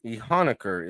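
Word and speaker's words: Iheanachor: They took offensive tackle Max Ehuker. Ehanuker is how you say it. Ehanuker uh in the pronunciation of the draft bible.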